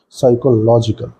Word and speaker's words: psychological: put on cho part if you write this then we need to put stress on log and the pronunciation would be psychological for this psyche if